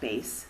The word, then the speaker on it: bass: says about bass clef the bass clef pronounced bass it looks like bass but it's no fish and music just bass